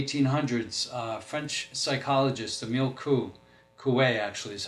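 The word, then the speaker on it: Coué: back in the 1800s uh French psychologist Emile Coupe actually is how you pronounce it he made this statement up and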